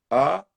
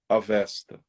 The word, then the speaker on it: Avesta: A-V-E-S-T-A. Deu para pegar? Essa aí não é tão difícil, né? Não, essa é fácil. Avesta.